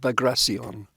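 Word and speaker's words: Bagration: Ukraine and in Belarus and they all said vagracion really yeah and I said is that how you pronounce it and they were absolutely convinced yes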